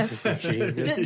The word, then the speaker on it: Regina: Regina.